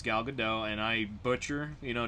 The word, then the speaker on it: Gal Gadot: for last week um i called her gal gadot i yep it's gal gadot and i butcher you